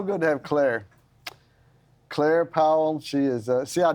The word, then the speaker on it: Powell: and uh so he was like we don't pronounce it Powell it's Powell you're p-a-l Claire Powell and and you guys